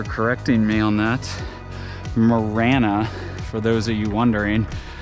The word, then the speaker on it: Marana: cuz this is Morana by the way it's pronounced Morana not Morana I've always called it Morana like I was pronouncing it in espanol but uh thanks ingred for corre dirting me on that Morana for those of you wondering so I don't